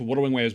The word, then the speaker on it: Wuthering Waves: It's pronounced Wuthering Waves, by the way.